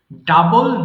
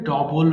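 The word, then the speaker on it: double: করা discover ডিসকভারড ডিসকভারড ডাবল দ্বিগুণ করা এটা অনেকে ভুল করে ডবল বলে যে আমার ফোন নাম্বারটা লেখেন তো ডবল টু ডবল ফোর কিন্তু এটা সঠিক উচ্চারণ হবে ডাবল ডাবল মানে দ্বিগুণ করা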